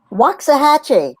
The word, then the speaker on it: Waxahachie: say the name of your town in Texas Waxahachie but it's temporary I actually loved Provincetown and